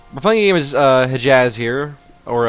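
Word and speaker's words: Hejaz: playing game as uh hij Jazz here or as Shen pronounces it Hedges and this is the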